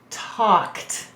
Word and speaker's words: talked: sound you're right now do we say talked we don't that's a silent l notice that the a is saying it's broad sound before the silent l so a vowel will